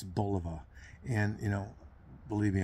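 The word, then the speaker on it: Bulova: 60s and 70s and you'll hear the pronunciation um it's Boliva and you know believe me I'm not the pronunciation police because I get things wrong all the time.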